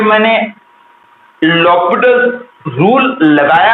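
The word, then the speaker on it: L'Hôpital: लॉपिटल्स rule, जिसको कि बहुत लोग एल हॉस्पिटल बोलते हैं, जो कि रॉन्ग प्रोनाउंसिएशन है। करेक्ट प्रोनाउंसिएशन इज, उसमें एच साइलेंट होता है। तो करेक्ट प्रोनाउंसिएशन इज लॉपिटल्स रूल, और उसके हिसाब से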